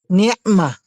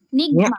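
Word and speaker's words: نعمة: Sabihin mo, ni'ma. Ni'ma. Ni'ma. Ni'ma. Huwag mong gawin ha. Ni'ma. Nigma.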